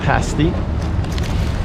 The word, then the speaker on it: pastie: So, we discovered the proper pronunciation is pasti.